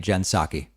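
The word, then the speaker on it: Jen Psaki: how it's said so i'm going to be pronouncing it jensaki until someone explains to me a good reason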